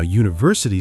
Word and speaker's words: university: Now university starts with u which is a vowel letter but the sound at the beginning is like u like a y sound.